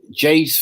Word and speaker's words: Jeyes: I had to buy last week some Jay's fluid because we have a rat. Now, Jay's fluid is spelled Jeyes.